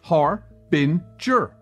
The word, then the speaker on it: Harbinger: this episode the jordan harbinger show and that's pronounced har bin jur things can get pretty